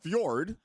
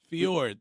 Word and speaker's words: fjord: Fjord, Scandinavian. Correct. The J is silent. Correct. All right. Fjord.